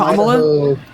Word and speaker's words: Kamala: it's Kamala Harris. You said it right the first time. Where the fuck is this new pronunciation coming from?